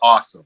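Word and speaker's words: Osym: album that was on was called this is awesome which you know you're wrestling that speaks to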